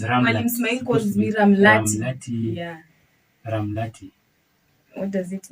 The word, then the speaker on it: Ramlat: And I was told the Nubian way of pronouncing Ramlat is Ramlati.